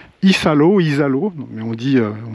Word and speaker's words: Isalo: la région la région pardon de l'ichal ça s'écrit Isalo Isalo mais on dit on dit ichal Isal ichal c'est le Far West de Madagascar on a